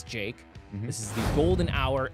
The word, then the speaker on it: JVKE: he he did his own thing and it's Jake this is the golden hour sb19 remix so